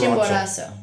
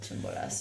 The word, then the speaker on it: Chimborazo: Chimborazo. Chimborazo. Yeah. Chimborazo.